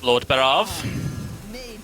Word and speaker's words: Lord Barov: keep yourselves alive I'll show you who's F Lord barav coming into play now is the one and